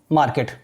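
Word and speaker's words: market: सो यहां पे होगा आई गो टू मार्केट, आई गो टू मार्केट, आर silent रहता है, ठीक है ना, आई गो टू मार्केट।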